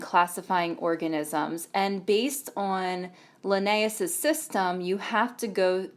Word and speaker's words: Linnaeus: can classify organisms so here's a picture of linnaeus that's how you pronounce it linnaeus is famous for coming up